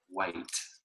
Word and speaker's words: Whyte: in Corporate America by David White. That's spelled Whyte.